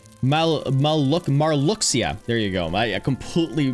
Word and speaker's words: Marluxia: The Kingdom Hearts series, and we're talking about Kingdom Hearts 2, and we're Malcusius? Is it Malcusius? M-A-L Malcusius Kingdom Hearts 2. No, not malicious. Marluxia.